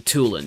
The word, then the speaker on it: Tulin: No, am I getting his name wrong? Tulin, that's right.